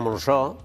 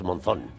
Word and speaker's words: Monzón: el título a ver Bueno aquí sería monsó Pero es Monzón de rodillas Monzón porque esto rodillas Monzón Monzón Y eso por